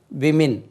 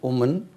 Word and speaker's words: women: மேன் உமன் மென் விமின். விமின் உச்சரிப்பு கவனம் வேணுமோ? என்ன சார் புதுசாக சொல்லுங்கள், இது உமென் இருக்குது, இது உமன் விமின். இது உமன்னா உமெனாவது இருக்கணும், விமின் என்று உச்சரிக்க வேண்டும். ரைட்.